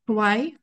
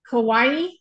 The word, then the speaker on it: Kauai: It sounds like Hawaii, like one of the islands of Hawaii. Hawaii? Is it Yeah, that? it's not Hawaii though. It's Kauai.